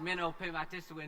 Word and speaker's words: Mino-pimatisiwin: We are calling today Mino-Pimatisiwin. And let's learn how to say this together. First of all, we should probably tell you what Mino-Pimatisiwin means.